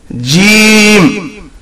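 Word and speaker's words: ج: Jim is pronounced from the middle of the tongue.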